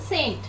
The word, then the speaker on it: St.: ST is pronounced as Saint. But Xavier's, you said it right.